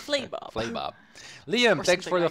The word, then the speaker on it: Flabob: It's still so funny that we pronounced an entire stream of traffic patterns as Flabob. And it's Flaybob.